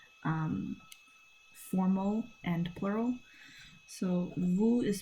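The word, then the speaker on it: vous: Um and then we have vu which is um formal and plural. So vu is spelled v o u s.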